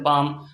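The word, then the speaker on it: palm: এমন কাম এল সাইলেন্ট পাম পি এল এম পাম এল silent এরকম আরো অজস্র শব্দ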